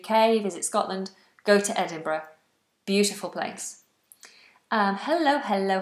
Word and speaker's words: Edinburgh: why won't help you just know the correct pronunciation Edinburgh Edinburgh it's a lovely beautiful city in Scotland